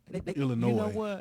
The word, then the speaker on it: Illinois: uh we got uh that s is silent baby illinois i'm country illinois okay